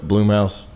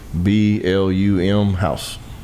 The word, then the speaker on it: Blumhouse: Can we look up Bloom House and see how to pronounce it? B L U M house.